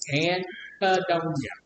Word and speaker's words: anhedonia: Anhedonia? Okay, how do you say that on A-N-H-E. A-E? No. A-N-H-E and E N-E-H-E. D-O-N-I-A. Anhedonia.